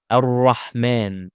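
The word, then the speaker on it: الرحمن: Same the word ar-rahman. Alif wasl in this case is followed by lam, so we need to apply it as hamza with a fatha. A. Ar-rahman.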